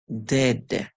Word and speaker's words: dead: a short song so I know that you may know E and A says e together like in the word meet or beat but in this word it is actually saying e like in the word sweat you hear e too so